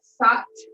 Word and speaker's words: Sat: we're using the mantra sat on the inhale and nom n-a-m-s-a-t pronounced s-u-t and numb is on